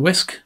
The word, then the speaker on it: wsk: in your sleep to get this onto open whisk we use command line tool wsk which is pronounced whisk i know you're thinking it's pronounced